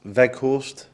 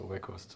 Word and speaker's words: Weghorst: name, is it Wout Weghorst? Yeah, I take it. I go for it. Yeah, in Dutch you say like Weghorst, but the G is of course in England a little bit difficult.